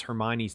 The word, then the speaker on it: Hermione: read Harry Potter and you didn't know how to pronounce Hermione's name, at least I didn't, and then you see the movie and you go, oh, that's Hermione. You do it differently throughout the book. And then Hermione. Yeah, Hermione. Yeah, exactly. And then you hear it and you go, that's how it's said.